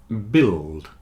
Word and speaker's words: build: business women business women biscuit circuit and build have a silent U you see the U